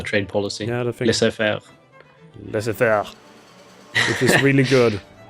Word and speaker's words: laissez-faire: a booming industry, because liberals usually have the laissez-faire. How do you pronounce it? The trade policy. Yeah, the thing. Laissez-faire.